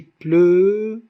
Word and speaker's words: pleurent: On n'a pas dit qui pleure, non, qui pleure. Tout ce mot se compose d'une seule syllabe, parce que ce E, il est muet.